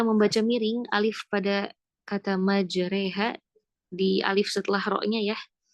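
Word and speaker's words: مجريها: Imalah itu artinya lafun bainal alifi wal ya. sebuah bacaan yang mana bacaan itu bacaan di antara alif dan ya atau biasa kita sebut bacaan miring ya bacanya e dan di sini sebutkan wala yamiluunal alif fi kalimah majreha fil ayah bismillahi majreha itu di surah hud ayat 4 41 lihat di bawahnya yaah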